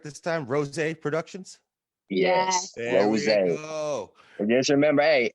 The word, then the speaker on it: RosA: RosA.